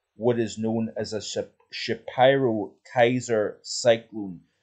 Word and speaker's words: Shapiro: is known as a shyro Kaiser Cyclone so what actually is a shapur that's probably the best pronunciation shapur Kaiser Cyclone they